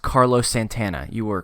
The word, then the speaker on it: Santana: Stephen, it's pronounced Carlos Santana.